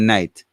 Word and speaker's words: knight: famous knight question though how do i have k in front of that word and and and it still said night why doesn't it say knight because the k doesn't pronounce it's not voiced it's not the k is silence okay it's not voiced